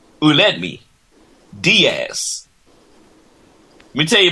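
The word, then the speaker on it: Aledmys: l e DM y s and it is pronounced announced Ed me Diaz let me tell you about Mr Diaz's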